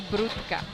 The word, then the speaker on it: Brodka: Well, I feel Brodka, yeah, that's a Polish name. Yeah, in Polish would be Brudka. but Rutka. yeah. So That'd be the correct way to pronounce it.